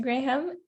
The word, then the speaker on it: Graham: okay so hello um mr graham um is that how i pronounce your name yes actually that's the proper